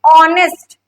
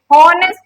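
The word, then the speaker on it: honest: ऑनेस्ट, ऑनेस्ट क्या है, ऑनेस्ट बोलते हैं, हॉनेस्ट नहीं बोलते हैं, ठीक है। तो एच क्या है, साइलेंट है, ठीक है।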